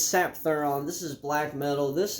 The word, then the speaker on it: Sapthuran: say that anyway Hill hild the gasel it's sap thuron this is black metal this is a bestial